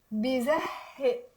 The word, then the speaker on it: بيزهق: No, normally H like hotel but like a stronger one. It's like you're saying hotel. Hi. Okay, so بيزهق and in the end you do the okay.